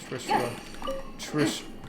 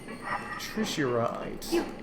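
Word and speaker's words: Trishiraite: Trish. I keep getting the pronunciation wrong. It's Trishurite. Okay.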